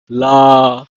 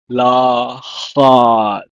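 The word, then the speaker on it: לָכַד: It's pronounced as Lahad. Lahad.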